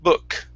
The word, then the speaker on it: book: is the word book instead of boo book with an u it's uh uh book book all right excellent excellent uh